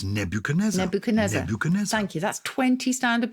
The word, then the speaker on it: Nebuchadnezzar: one either nebuchadnezzar oh nebuchadnezzar you can pronounce it okay nebuchadnezzar nebuchadnezzar you don't pronounce the d in it then nebuchadnezzar i need to